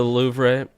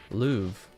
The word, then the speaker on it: Louvre: The re is silent. Is that how it is a lot of the time in French, where if there's an RE at the end?